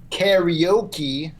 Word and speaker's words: karaoke: So refreshing to hear someone pronounce karaoke correctly.